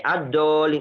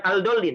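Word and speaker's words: الضالين: Oke, ad-dallin kan dibacanya bukan al-dallin. Nah, ini enggak boleh baca al-dallin, enggak boleh.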